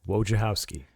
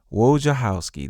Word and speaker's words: Wojciechowski: Let's give it up for we call him Wojo, and I'll let him pronounce his name because I want him to get it right for everyone to hear. Wojciechowski. Wojciechowski, that's right.